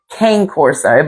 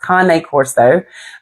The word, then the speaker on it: Cane Corso: People like to pronounce it Cane Corso, but it's not pronounced Cane Corso. It's pronounced Cane Corso.